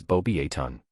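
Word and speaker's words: Beauxbatons: The pronunciation of Bosebatons is bobbyon. The X and final S are silent in French and the O is pronounced like the O in boat.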